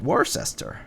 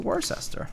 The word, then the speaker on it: Worcester: It's like you can test people how to how to say it cuz people will be like worcester. It's a worester like the sauce worester sh just like